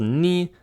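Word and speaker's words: nu: You have vita for that, whereas this one, it's called ni, and it's just pronounced like an N, just like mi, m, ni, n.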